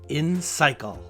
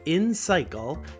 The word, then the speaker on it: Insycle: This podcast is brought to you by InCycle.